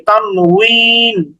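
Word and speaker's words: تنوين: উচ্চারণ করছি মূলত ওখানে উচ্চারণটা হচ্ছে ওয়াও দিয়ে তানুইন এরকম উচ্চারণ এই তানুইন এটার শাব্দিক অর্থ হচ্ছে নুন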